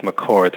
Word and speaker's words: McCord: But the other book I really like, I think the last name is pronounced McCord, so it's Patty McCord.